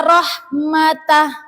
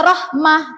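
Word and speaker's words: رحمة: Milladunka rahmatah. Milladunka rahmah. Tidak boleh dibaca milladunka rahmatan atau milladunka rahmata, itu salah ya. Jadi yang tepat adalah dibaca hak sukun milladunka rahmah, seperti itu.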